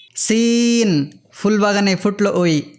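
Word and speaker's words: سين: এই সিনের উচ্চারণ অনেকটা এসের মতো, কিন্তু এসের তো বিভিন্ন উচ্চারণ ইংরেজিতে আছে।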